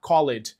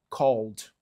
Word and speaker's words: called: O verbo to call a gente adiciona o ed, só que a gente não vai falar called, a gente vai falar called.